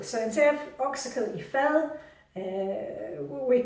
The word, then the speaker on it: fad: Now, oksekød i fyld means okse is beef, and fyld or fad, you pronounce it fyld, oksekød i fyld means a dish.